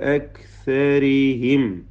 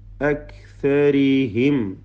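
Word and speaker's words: أَكْثَرِهِمْ: ലഖാദ് ഹഖ്ഖൽ ഖൗലു അലാ അക്സരിഹിം. ഇവിടെ ദീർഘം മദ് മുൻഫസിൽ ജായിസ് എന്നതാണ്. നാലോ അഞ്ചോ ഹറക്കത്തിൻ്റെ അളവിൽ അലിഫിനെ ദീർഘിപ്പിക്കൽ അനുവദനീയമാണ്. അക്സരിഹിം, അക്സരിഹിം. ക്യാഫിൻ്റെ ഷിദ്ദത്തും ഹംസയൊക്കെ ശ്രദ്ധിക്കുക. സാക്കിനായ മീമിനെ ഇൽഹാർ ഷഫവി, ഫായിന് മുമ്പിൽ സൂക്ഷ്മതയോടെ ഇൽഹാർ ചെയ്യുക.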